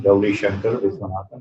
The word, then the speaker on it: Gowrishankar Viswanathan: So again, it's no surprise I have a very long name, Gowrishankar Viswanathan. That's how I say it. Gowri for short.